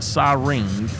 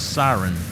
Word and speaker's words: siren: and Janice are wrong it's not siring it is siren that's the one that